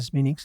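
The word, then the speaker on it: Smithwick's: Bon quand tu vois cette couleur kilkenisiano bowlingtonienne plus kilkenienne d'ailleurs également couleur oui ben couleur smix qui s'écrit Smithwick mais comme ils sont en Irlande ils disent Sminix est-ce qu'ils veulent pas dire Smithwick ?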